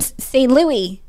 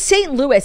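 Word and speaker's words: St. Louis: pronunciation with our accents how to say St Louis it's St Louis I've been there St Louis Louis Missouri confuse me more it's St Louis it's Louis Tomlinson and it's Louis Capaldi Lewis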